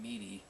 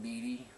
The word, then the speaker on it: Meady: That's right, Meady. That's how she pronounces her name, Meady.